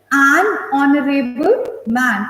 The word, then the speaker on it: honorable: Okay, so an honest boy, okay, an honorable man. Again, the H is silent.